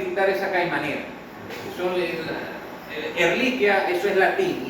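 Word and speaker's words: Ehrlichia: Usted se les tiene que quitar esa ca manera son erliquia, eso es latín y el latín ch es como los italianos, no se pronuncia ch, eso es español, pero eso no está en español, eso está en latín.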